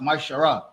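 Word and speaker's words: מעשר: in Malachi 3: 8-10 it means 10th in Hebrew and it's pronounced myar 10% of every penny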